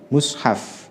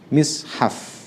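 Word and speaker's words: مصحف: Kata Imam Nawawi, mushaf itu ada 3 cara baca. Yang satu bisa dibaca dengan dhammah mushaf, mimnya dibaca dhammah mushaf. Ada yang mishaf, ada yang mashaf. Akan tetapi dhammah dan kasroh itu lebih terkenal, lebih umum daripada fathah.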